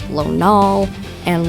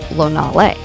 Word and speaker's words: Lonalé: I have heard Lonalé, Lonale, Lonal, and Lonalé, to name a few. The proper pronunciation is Lonalé. Lonal-A.